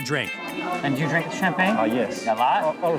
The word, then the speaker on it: champagne: Champagne.